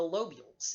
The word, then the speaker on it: lobules: tissue within each lobe you will find the lobules l OB u le s the lobules contain